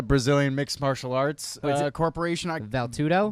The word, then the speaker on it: Vale Tudo: Shepard said our other discovery named how do you pronounce that? Well, I know it as a Brazilian mixed martial arts corporation. Valtudo? Vale Tudo.